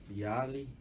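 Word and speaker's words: Yale: Yali. Okay. Y-A-L-E. Y-A-L-E. His last name's weird. I can't even spell it.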